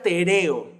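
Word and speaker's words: τηρέω: Pero la palabra griega que aparece aquí para guardar es una palabra que se pronuncia tereo.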